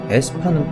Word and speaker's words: aespa: AESPA라고 쓰는데 사실 AE가 발음이 아이에요. 에인데 에스파는 또 희한하게 어이에를 씁니다.